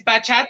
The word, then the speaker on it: bachata: It's bachata and merengue.